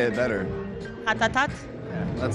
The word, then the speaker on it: Ratatat: Ratatá, não? Ratatat. Um Pokémon, Ratatá! Não sei esse nome. Não, for real. Ratatat. So, people, they have to say the last T.